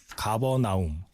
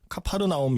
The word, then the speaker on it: 가버나움: 제목이 가버나움. 가버나옴. 네. 아, 이게 C로 시작하는데 이거 가버나옴으로 발음이 되나요? 예. 이게 가버나움이라고 되어 있고 또 뭐 다른 자료 보면 보통 뭐 카파르나움 이렇게도 많이 이제 써 있더라고요.